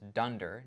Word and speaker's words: dunder: Underscore, underscore name, underscore, underscore, pronounced as dunder name, is going to say, build me a particular Flask app based on this file right here.